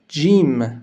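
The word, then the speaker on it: ج: La lettre suivante s'appelle Jim. Elle fait le son J.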